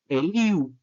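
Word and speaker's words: ἐλύου: primera persona elen segunda elu se pronuncia u elu tercera persona eleto primera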